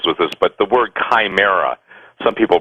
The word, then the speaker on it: chimera: belief system deals with this but the word chimera some people pronounce it shamera pronounce Chimera c h i m e r